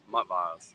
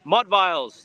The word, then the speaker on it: Mudviles: I was on chat, I believe that name is either Mudviles, Multiviles, whatever y'all call me. What do I have? How do you pronounce it properly? Mudviles. Mudviles.